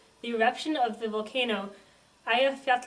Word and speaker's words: Eyjafjallajökull: those of you troubled by pronunciation this is pronounced aat repeat after meat now we will hear from